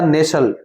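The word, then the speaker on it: nestled: इसमें एक शब्द आया था नेसल्ड। नेसल इसमें टी साइलेंट होता है।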